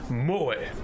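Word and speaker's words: 萌え: Pronounced moe, in case you wanted to pronounce it mo.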